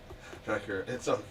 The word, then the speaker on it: Rutger: Sandra, I know how to pronounce Rutger. Rutger, but it's okay as long as you don't say it in a German way.